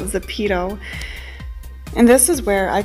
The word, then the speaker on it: Zepeto: and as the pedo I think the correct way to pronounce that is the pedal but I like to call it the pedo and this is where